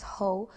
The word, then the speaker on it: Ho: more aware of their body internally, our organ systems, our skeletal system, how it functions, how the skeletal and nerve system interact, how damaged spine can then lead to damage in your extremities.